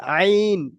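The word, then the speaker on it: ع: আর আইন এই যে হা পড়লাম না আমরা এই হাটা যেরকম উচ্চারণ করছি তেমন আমাদের আইনটাও বের করতে হবে।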